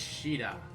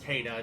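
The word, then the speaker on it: Caeda: But anyways, boss is Sheeta. Or Kata, depending on how you like to pronounce it, but I say Sheeta.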